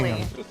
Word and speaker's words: Groningen: I think if I like one is called Groningen, which is really hard to pronounce. Groningen? Groningen. Groningen. Yeah. Groningen. Groningen. Yeah, exactly. Groningen. Did I say it right? Yeah, you said it right.